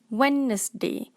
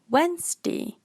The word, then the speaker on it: Wednesday: pronunciation is plummer plummer malaysian will pronounce this word as a three syllable wednesday wednesday but the correct pronunciation is wednesday wednesday many malaysian will pronounce